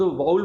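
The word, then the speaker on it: vowel: उनको तो खुद वाउल बोलना नहीं आता, वाउल बोल रहे हैं तो वॉवल होता है। तो वॉवल नहीं होता है, इसकी प्रोनाउंसिएशन वाउल होती है, ठीक है।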